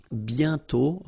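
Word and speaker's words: bientôt: Remember, you put this accent complex but you don't write it. You sorry, you write it but you don't pronounce it. And then the final T is not pronounced. BTO.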